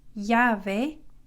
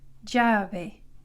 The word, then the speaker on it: llave: The letter eye or eye is pronounced like a Y, llave, llave, or in some countries it's pronounced more like a j, j, llave, llave, kind of like the English J, llave.